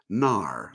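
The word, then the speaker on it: Knarr: on the cruise and this game was Nar and that's spelled with a k k n a r RAR so this is one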